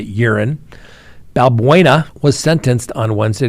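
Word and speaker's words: Euren: Now, urine, E-U-R-E-N, we're going to pronounce it urine, Balbuena was sentenced on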